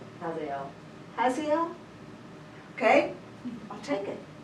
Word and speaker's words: Hazael: So he sends here, how would y'all pronounce his name? Hazael. How? Hazael.